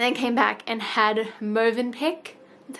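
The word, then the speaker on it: Mövenpick: We went for like a nice long walk along the beach, and then came back and had Movenpick.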